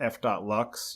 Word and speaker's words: f.lux: It's called f.lux. You might also pronounce it Flux, and it is an application that just runs in the background.